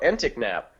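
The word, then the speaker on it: Enticknap: Just spell it out or sound it out. Entic-nap. That's all it is.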